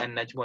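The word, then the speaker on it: النجم: a noon, you know, any noon which have alif and lam on it, you won't pronounce the lam, you'll always pronounce the noon, like in the example of an-nasru.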